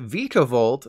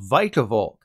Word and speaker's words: Vikavolt: about the speed stat I naturally called it vikavolt like veeamon imagine my surprise when I watched the anime and learned that nope it's actually called vicavolk stupid sophocally is always